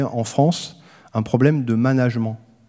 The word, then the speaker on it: management: france un problème de management alors je le prononce comme ça parce que le mot vient de ménage et de la même